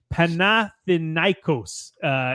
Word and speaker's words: Panathinaikos: Panathinaikos is how you say that.